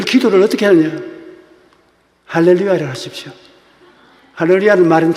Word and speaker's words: 할렐루야: 할렐루야는 말은 참 좋은 말입니다. 하나님께 감사하는 거예요. 우리 할머니는 발음이 안 되니까 할렐로입니다.